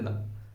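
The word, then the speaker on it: the: और एक ये लगा, इसके तीन प्रोनाउंसिएशन, यानी इसके तीन उच्चारण है, कितने उच्चारण, तीन। देखो पहला उच्चारण है दा, यानी ओनली ये वाला था जिसमें कोई मात्रा ही नहीं है। दूसरा उच्चारण है दी, यानी छोटी वाली दी, कौन सा, छोटी वाली दी। और तीसरा उच्चारण है दी, यानी बड़ी वाली दी।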